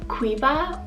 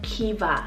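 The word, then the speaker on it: Caoimhe: noble now this one in some areas in ireland it's pronounced as kiva like k-e-e-v-a kiva so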